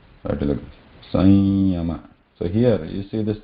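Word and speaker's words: संयम: So when we pronounce this, we are pronouncing it as Sanya, Sanyama, right? Sanya. That that sound is Anuswara here, which is distinctly different from this Amba.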